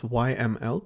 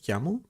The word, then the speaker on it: YAML: And then there's YAML which I used to pronounce as YML but turns out it's YAML.